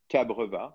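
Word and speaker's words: cabreúva: And I've used some cabreva, which is a wood that comes from Brazil. Cabreva. It's spelled C-A-B-R-E-U-V-A, cabreva.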